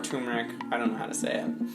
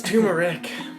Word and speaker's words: turmeric: think it's tumeric yeah but you're saying that right tu RN ER I see turmeric no you don't pronounce that you are the second the first R I didn't even know there was an R yeah I think there